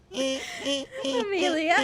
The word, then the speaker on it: Amelia: Amelia. No, that's actually how her name is pronounced.